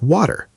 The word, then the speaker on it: water: Words like water. Better little. The t in the middle often sounds more like a soft d. Water sounds like waiter.